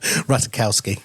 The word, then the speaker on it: Ratajkowski: bet you know her so how do I pronounce her silly ratakowski oh there you go um yes well anyway